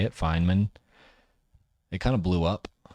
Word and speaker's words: Feynman: I know how to say it, Feynman.